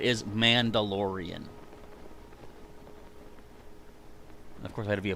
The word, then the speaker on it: Mandalorian: if I don't Glide how do you say uh mandala Ryan it's Mandalorian I know I just confused Everybody by saying it two different ways but yeah the actual way to say it is Mandalorian of course